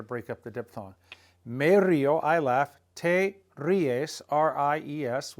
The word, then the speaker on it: río: You want to say me río, there's an accent on that I to break up the diphthong.